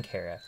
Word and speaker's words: Chara: pronunciation of Cara but since it's likely short for character this is how I chose to pronounce it Cara was the first